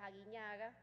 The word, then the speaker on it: Aguiñaga: Yo veo que usted sí pronuncia bien mi apellido, se lo agradezco, mi apellido es Aguinaga.